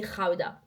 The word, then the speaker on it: Gouda: Ah et d'ailleurs, le Gouda ça se dit Gouda.